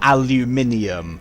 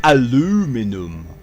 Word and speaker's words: aluminium: doing the correct pronunciation oh aluminium not aluminum aluminum god emotional about